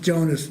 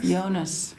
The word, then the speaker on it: Jonas: died when you leave Jeremy it's it's not pronounced Jonah's injured for not seeing us oh I didn't realize yeah I said DJ's like a why going on yonas yeah was my nickname Jonnie Jonnie was